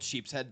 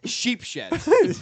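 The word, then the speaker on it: Sheepshead: in New York called Sheep's Head Bay. He calls it Sheep Shed. No, being born in Brooklyn, that's a cardinal sin.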